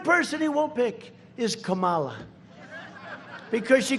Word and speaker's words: Kamala: tried to interrupt him no my name was kamala like comma i remember that like